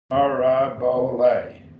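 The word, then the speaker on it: παραβολή: Parabole, 4 syllables.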